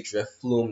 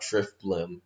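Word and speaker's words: Drifblim: It sounds like you say Drift Flume, not Drift Blim.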